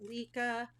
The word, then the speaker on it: Lykke: putting all of the Lykke, I think it's pronounced Lykke, not this one, I purchased that, but all